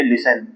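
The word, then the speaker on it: listen: और लिख लीजिए लिसन वैसे है तो यह लिस्टन लेकिन इसमें जो टी है वह साइलेंट है तो इसलिए हम इसको बोलेंगे लिसन और ये लिसन नहीं बोला जाता ये बोला जाता है लिसन क्या बोला जाता है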